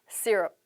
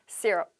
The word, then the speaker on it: syrup: 네, syrup. 이게 발음이거든요. 다시 한번 syrup.